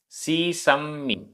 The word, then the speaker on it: सीसम्मि: णेहम, णेहम, णेहम, सीसम्मि, आधा पूरा म, सीसम्मि, सीसम्मि, वट्टदे, आधा ट पूरा ट, वट्टदे, वट्टदे।